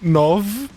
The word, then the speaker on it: nove: How's the 9 pronounced in Portuguese? Nove.